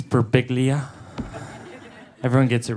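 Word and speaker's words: Birbiglia: It's Beriglia.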